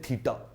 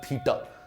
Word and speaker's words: theta: अब इसको अगर आपने लिखना है तो लिखेंगे कैसे, देखो दोस्तों इसको बोलते हैं थीटा। क्या बोलते हैं, THETA, ये प्रोनाउंसिएशन याद रखना, थीटा।